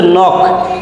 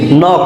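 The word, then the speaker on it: knock: এর উচ্চারণ যখন সাইলেন্ট মানে কে এর উচ্চারণ হয় না এরকম একটা শব্দ হচ্ছে নখ কে এন ও সি খেই নখ দ্যাট মিন্স টোকা নাইফ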